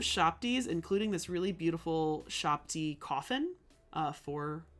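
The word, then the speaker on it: shabti: And then sometimes if you have so many shopties, your shopty needs an overseer shopty. So a shopty is you can also pronounce it U-shopty.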